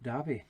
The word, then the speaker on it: Davie: loch nadave that's d-a-v-i-e like davey but is pronounced debbie similarly and now uh